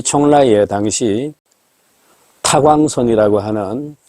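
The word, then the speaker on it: 邛崃: 총라. 우리식 발음으로는 임공시입니다.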